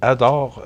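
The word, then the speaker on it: ADORE: Puis, vous parlez de Solidarité Cancer, mais si on parle de service de répit ADOR, ça s'écrit A-D-O-R-E.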